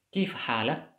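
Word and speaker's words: كيف حالك: Kalau dia laki-laki, maka harakat tadi yang fathah itu kita pindahkan ke sini. Harakat yang dhammahnya kita buang. Jadi kita hapus, kita pindahkan ke sini. Sedangkan di sini kita jadikan sukun. Menjadi bacanya kif halak, kif halak.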